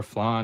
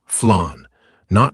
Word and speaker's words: flan: Is it flan like fla or flan like flan or fla like flan or fla? Dude, it's fla like fla. Fla. Fla. Not flan. Like you're saying plan with a lisp.